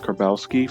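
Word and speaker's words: Karbowski: Brittany Kerbowski, or I believe it's pronounced Kerbowski, from she voices Rimuru from That Time I Was Reincarnated as a Slime.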